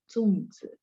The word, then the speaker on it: zongzi: Bacanya ada 4 ya, zongzi.